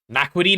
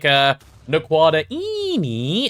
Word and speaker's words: Naquadria: Naquidine is in crystalline. I thought that was the pronunciation. That's how I used to say it. And then Blazing said, no, no, no, no, no. You've got to pronounce it correctly. It's like Naquadra Ini, and now we say it like that, just to honor his memory, you know?